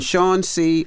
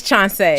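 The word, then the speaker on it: Chanceé: We have LaTosha Brown and Chancee. Did I say your name right? It's Chancee. Chancee. Chancee. Yes. They were telling me it's Chance at first because it's spelled Chance E-E, but it's Chancee. Yeah, it had an accent mark on it.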